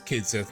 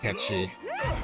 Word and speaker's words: Kitsu: Yeah, it is Kitsu, not Ketchi. Although in Japanese, they still keep that pronunciation. I think everywhere but English, basically.